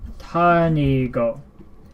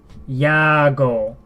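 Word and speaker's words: 谷郷: So these are this is how you pronounce his last name, Tanigo. This is his surname, Tanigo, and then you have Motoaki, which is his first name, Tanigo Motoaki. Here's the thing. Subaru wrote this as Yago. Yago. She pronounced this as Ya. So Ya instead of Tani.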